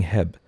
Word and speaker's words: H-E-B: It's H-E-B. Nah, it's Heb. I ain't saying 3 syllables if I could say 1.